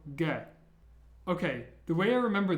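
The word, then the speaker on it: Г: next letter is and it's like an English G sound but be careful it's only ever like the G sound in the name gray for example it's never like a g sound as in giraffe it's always a g sound so gay okay the way I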